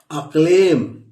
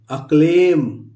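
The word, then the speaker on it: acclaim: इसी तरह दोस्तों लिखा हुआ है अक्लेम। यहां हो गया अ और ये क, अक और लेम, अक्लेम, आधा क्लेम हो गया ना, यह हो गया, ये साइलेंट है अक्लेम।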